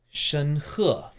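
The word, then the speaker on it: 申鹤: Shen He.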